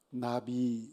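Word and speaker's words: נביא: 그렇게 얘기를 할 때 히브리어로 어떻게 발음을 하느냐 하면 선지자가 아주 쉬워요 나비 라고 그럽니다 나비 나비 않아 br 때에 나비 라고 그렇게 발음을 해요 왜 그렇게 발음 할까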